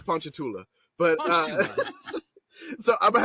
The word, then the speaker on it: Ponchatoula: fun belt you know what like he's from honcha Tallulah hunt punch uh okay that was one on the Louisiana pronunciation list it's Ponchatoula but uh so I'm gonna have to take